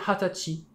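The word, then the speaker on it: 二十歳: officiel c'est celui-ci attention 20 ans en japonais ça s'écrit comme ça nus mais on a une prononciation particulière pour ce mot qui est hatachi qui correspond à l'âge de la majorité au Japon enfin là ils sont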